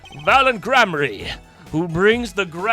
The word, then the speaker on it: Gramarye: Let it be I, Valent Gramarye, who brings the I said it right the first time. Gramarye miracle back to the big stage.